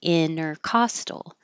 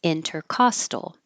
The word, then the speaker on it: intercostal: here without the T inner costal or you can say it with the T and it's not wrong either way intercostal with the T intercostal